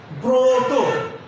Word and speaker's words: ব্রত: একইভাবে শব্দের শুরুতে রফলা এবং সেখানে যদি অ থাকে তাহলে সেই অয়ের উচ্চারণ ও হবে। যেমন ব্রত, ব্রত।